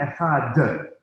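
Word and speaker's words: אחד: don't just say Adonai Echad and let it fall out. They say Adonai Echad, and they do a very pronounced daled or D sound.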